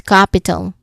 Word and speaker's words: capital: That's capital. Okay. The first syllable cap is the stress part.